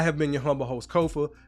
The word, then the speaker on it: Kofa: So once again, I have been your humble host, Kofa, K-O-F-A, not coffee, not Kufu, not Kofi, or any variation thereof. Kofa rhymes with sofa.